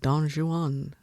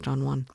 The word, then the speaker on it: Don Juan: look he's singing like Don Juan and I'm like oh lived in California too long I thought it was Don Juan. It's not it's two syllables.